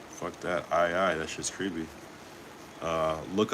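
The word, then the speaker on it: aye-aye: Oh, it's pronounced I I like I I captain.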